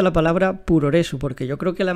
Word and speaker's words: puroresu: la digo yo pero tengo entendido que se debería pronunciar como progress no como progress slim pero con el acento japonés no sé si tú